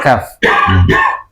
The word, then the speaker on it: kaf: Kalau ka itu pengucapannya tipis ya, dan kemudian ada nafas yang mengalir ya, ka.